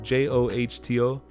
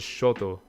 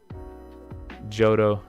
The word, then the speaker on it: Johto: of hoto hotel j-o-h-o-n j-o-h-t-o johto i always pronounce it shoto and that's really not how you pronounce it but uh but